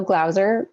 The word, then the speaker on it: Glauser: I'm Michelle Glauser, rhymes with browser, and I'm the founder and CEO of Techtonica.